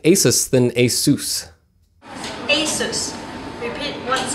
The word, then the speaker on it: Asus: an aside i know the pronunciation of asus is supposed to be like a and then soos like dr seuss but when you say it quickly it's easier to just say asus so that's how i